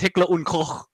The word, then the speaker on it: Heckler und Koch: So it's Heckler and Koch, but in German it's Heckler und Koch. Heckler und Koch.